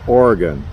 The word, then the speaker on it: Oregon: Just like I've always said Oregon. And my cousin, who I think he used to live there, grew up there, he says, no, it's Oregon.